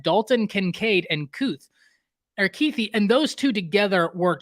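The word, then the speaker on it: Kuithe: his name I apologize I think it's keithy and I don't know why I just said couth but keithy being the Titan they have number 80.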